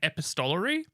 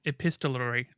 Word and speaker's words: epistolary: make sure that I I think I've been pronouncing it wrong my whole life I've been saying epistolary but I believe I've been corrected in it's epistolary epistolary basically it's a bunch